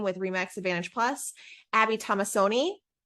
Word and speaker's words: Tomassoni: RE/MAX Advantage Plus, Abby Tomassoni. Abby, I said it wrong again, didn't I? Nope, you said it right.